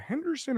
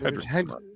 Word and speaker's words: Hendrickson: Is it Henderson or Hendrickson, right? It's Hendrickson.